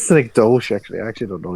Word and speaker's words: Synecdoche: Yeah, Synecdoche. Yeah. I think it's Synecdoche, actually. I actually don't know either. I just want to know. Because it's meant to be like Schenectady is a place in New York.